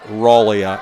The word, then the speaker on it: Raleigh: And John sent us a message and said, actually, it is pronounced as Raleigh, just like Raleigh, North Carolina. Okay, well, thank you. So Raleigh Kirchhoff for Goreville.